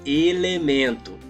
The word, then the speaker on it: elemento: Para identificar a sílaba tônica, basta que imagine. Como chamaria alguém distante? O nome da pessoa é elemento. Vamos chamá-lo. Elemento. Elemento. Acho que entendemos. Aquela mais longa é a nossa sílaba tônica.